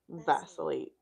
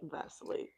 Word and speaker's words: vacillate: one word vate vacillate you said it wrong vacillate now miss I know